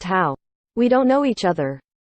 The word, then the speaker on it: Hao: His given name is pronounced Hao.